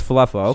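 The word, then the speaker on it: Falefa: then the top of the order isaiah kinder falloffa we want to know now for solac falafel oh okay it's falafel okay now i heard it see that's the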